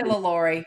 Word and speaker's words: LaLaurie: Layla Reed. Layla Reed, is that how you say it? Yeah, and some people say LaLaurie. We say Layla Ree.